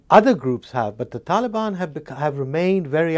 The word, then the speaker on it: Taliban: the Taliban and what's the right way to pronounce it uh Taliban is the right way to pronounce it well